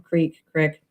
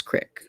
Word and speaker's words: creek: but we also or creek. I've heard it both ways. Well, Uh, if you are from Idaho, it's Crick. I it's mean, creek. we all know it, but it's spelled Creek. So, True.